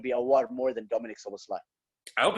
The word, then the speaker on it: Szoboszlai: Actually, that's how they're supposed to pronounce it there. That's how it's Szoboszlai. Szoboszlai, but I don't know.